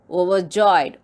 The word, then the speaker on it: overjoyed: Her highlighted words are overjoyed. Overjoyed means extremely happy. It has 3 syllables. O, were, joyed. How to pronounce? Overjoyed. Here also R is silent.